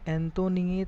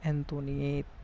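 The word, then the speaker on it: Antoinette: Mary एंटोनिएट पढ़ते हैं इसको, एंटोनिएट, टी साइलेंट हो जाता है।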